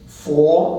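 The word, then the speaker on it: 佛: This is fo, it's pronounced fo in Mandarin, but it would have been pronounced something like boot a long time ago, so that's from Buddha or Buddha.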